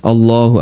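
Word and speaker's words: الله: Memang bacaan atau huruf lam dalam kalimat Allah, dalam kata Allah itu dibaca tafkhim, tebal. Nah, kadang sebagian orang di masyarakat kita kan ada beberapa kesalahan ya. Ada yang baca Allah, Allah, dan itu berarti masih tarkik, masih tipis.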